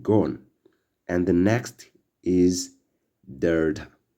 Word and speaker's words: delta: And the next is delta, which sounds like D in dog.